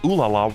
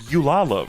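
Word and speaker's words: Ulala: His mic is super quiet and I swear to God he pronounced oo laala wrong. It's kind of hard to hear, but he said yala, right?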